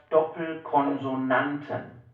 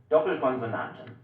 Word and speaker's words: Doppelkonsonanten: This is called Doppelkonsonanten. Doppelkonsonanten.